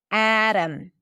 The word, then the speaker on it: Adam: Lemon, Adam, Adam. So the T is a flap T because it's between two vowels in an unstressed syllable. And then the O is reduced because the syllable is unstressed.